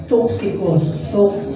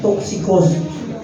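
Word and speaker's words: Τύχικος: So mapapansin niyo si Ticos kasi ah bakit merong T X I? Kasi sa Griego kasi wala silang letter Y kundi letter U. Kaya toxicos toxicos toxicos yung pronunciation yan original pero dahil nga sa sinasabin yan sa english typus pero parehas lang yan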